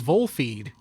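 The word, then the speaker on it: Volfied: know like kicks remember no it's not called kicks it's just it's it's vole feed vol feed or volfeve if you read that one letter is a v what is this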